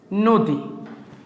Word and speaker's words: নদী: আমরা এখানে একটু আসি নদী এই যে নদী বানানের মধ্যে কি আছে দীর্ঘকার আছে তখন এইটা উচ্চারণের ক্ষেত্রে হয়েছে যাবে নৌ দি দয়ে দি এখন আপনাদের